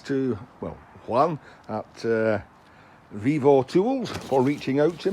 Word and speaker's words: VEVOR: a kind sponsors uh Vivo that's how you pronounce it have sent me a